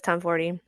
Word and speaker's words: Tomforde: because I thought the E was silent, it is not, which I kind of love. But Liz Tomforty, the woman you are, by the way.